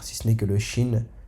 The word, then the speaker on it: ش: Donc le Shin se prononcera sh, sh, comme si on mettait un s et un h, sha, comme ça, sha.